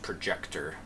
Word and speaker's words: ProjeQtOr: it is projet QT o r so it's pronounced projector it lets me know money user name here